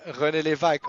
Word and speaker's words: René Lévesque: Yeah, René Lévesque, of course.